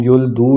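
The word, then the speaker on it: 열둘: मैंने लिखा थू ही है आसानी के लिए, लेकिन युल दू इसको पढ़ेंगे, तो ये 12 है।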